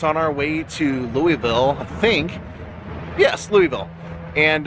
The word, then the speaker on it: Louisville: They're like, it's pronounced Louisville, Louisville.